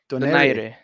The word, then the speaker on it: Donaire: Do you pronounce how do you pronounce his name in the Philippines? Donaire.